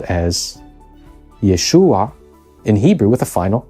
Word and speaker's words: Yeshua: but not elided entirely those residents might have pronounced it but with a helping vowel as Yeshua indeed we actually find